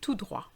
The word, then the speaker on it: tout droit: Have you noticed that the T of tout and the T of droit are silent? Aller tout droit.